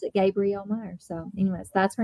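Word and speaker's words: Gabrielle Meyer: I always think her name is Gabrielle because it's spelled like it, but she pronounces it Gabriel Meer.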